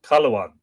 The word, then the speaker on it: Cathluan: For Cathluan is with us pronounced Caluan, and Don is used to denote the posterity of any person.